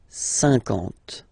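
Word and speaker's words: cinquante: Remember that you get this QU, but then you don't pronounce the U. And then you get the nasal, un, and then en. 50, 50.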